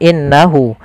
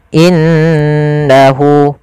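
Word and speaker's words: إِنَّهُ: warna hijau cara membacanya Jangan langsung innahu tapi ditahan dulu gunahnya dimasukkan ke rongga hidung kita in innahu innahuah seperti itu kesalahan yang terjadi tidak menahan gunahnya kemudian hu Mad Silah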